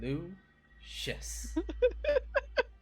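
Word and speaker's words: Leucis: L-E-U, Lou, C-I-S, Shis. Lucius.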